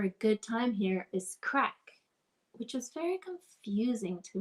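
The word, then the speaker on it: craic: what crack is and so when people were asking what's the crack i was like oh gosh these people do a lot of drugs here anyway it's spelled c-r-a-i-c um going back to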